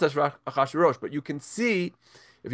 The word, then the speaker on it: Achashverosh: It's pronounced Achashverosh. It's pronounced Achashverosh, but you can see,